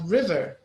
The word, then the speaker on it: river: What about river? First. The same. River. Yeah, river is the first one.